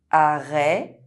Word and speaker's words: arrêt: It’s pronounced [ɛ] if followed by a silent consonant at the end of words: arrêt stop forêt forest It’s pronounced [ɛ] if